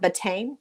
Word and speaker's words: betaine: can't say that word, betaine, betaine, Oh, I know. I think it's butane. butane. Butane is something that's flammable. So I don't think it's Okay, butane. It's betaine. It's betaine. betaine.